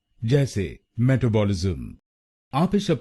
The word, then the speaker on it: metabolism: और ये ध्यान में रखिए कि हमको दूसरे शब्दांश पर यानी TAB पर जोर डालना है। मेटाबॉलिज्म। गलत प्रोनाउंसिएशन में हम META पर जोर डालते हैं, मेटाबॉलिज्म। तो इसको मेटाबॉलिज्म नहीं बोलिए, इसको बोलिए मेटाबॉलिज्म।